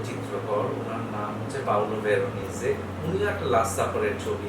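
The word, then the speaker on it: Veronese: তো শব্দের শেষে হচ্ছে ই উচ্চারিত হবে, দ্যাটস কারেক্ট, কিন্তু এস এর জন্য উচ্চারণটা হচ্ছে বর্গীয় জয়ের মতো, ভেরোনিজে, পাওলো ভেরোনিজে।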